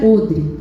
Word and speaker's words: odre: Lá está escrito odre, mas se pronuncia odre.